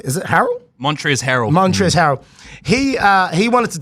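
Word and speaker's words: Montrezl Harrell: Montrez Harrel.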